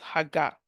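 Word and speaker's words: הָגָה: in Joshua 18 the Hebrew is the word hagga the pronunciation is h a g a h is pronounced hagga and it means to murmur in pleasure or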